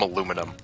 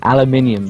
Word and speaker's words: aluminium: Aluminium, that's how it's meant to be pronounced.